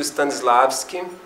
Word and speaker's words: Stanislavski: E eu acho assim, tem todos os livros do Stanislavski, Stanislavski, S-T-A Stanislavski.